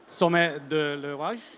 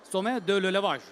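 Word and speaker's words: Sommet de l'Élevage: SOMMET de L'ELEVAGE. Is this the right pronunciation? Perfect. SOMMET de L'ELEVAGE.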